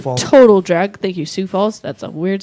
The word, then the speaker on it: Sioux Falls: April 17th, they're in, oh man, I don't know how to say this, Syx Falls, South Dakota, at Sioux the Falls. Total Drag. Thank you, Sioux Falls.